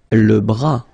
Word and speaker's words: bras: Le bras, same thing here, final S not pronounced, le bras. Le coude.